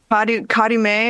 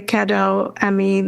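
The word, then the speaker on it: Cadeau Ami: Kadume, is that how you? I had to read it. How do you spell it? It's CADEAU and then AMI, Kadoami, the French.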